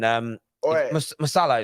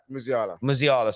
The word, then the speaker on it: Musiala: Yeah, listen, Masala is pronounced right. Musiala, sorry. I don't say Masala.